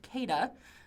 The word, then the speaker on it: KEDA: We're going to be talking about, it's pronounced, I actually talked to one of the authors, it's pronounced KEDA. I might call it KEDA, but we'll see how it goes.